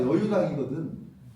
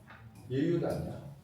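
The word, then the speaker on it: 與猶堂: 여유라고 읽으면 안 되고 이게 원래 뜻으로 하면 예라고 얘기해야 돼. 예유단이야.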